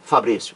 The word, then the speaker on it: Fabrício: também leva acento agudo ou seja o o Fabrício Silva Brito tem razão quando diz ó não é a mesma regra para as duas formas claro que é Fabrício vocês TM razão parabéns então a mesma regra